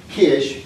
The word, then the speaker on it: Kish: So Sargon uh as we said had become the king of Kish is would be the proper way to say this one.